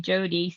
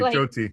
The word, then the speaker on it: Joti: You were calling me Jodie. So I'm sorry, Joti.